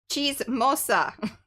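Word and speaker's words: chismosa: cheese Mo okay here let me spell hold on c h i s m o s a right but then pronounce with the yeah yeah like cheese Cheesa chees she smalla mhm okay I did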